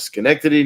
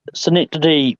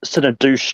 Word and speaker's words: Schenectady: I mean, Schenectady, New York, was I or as I mispronounced it once, Synodouche, New York.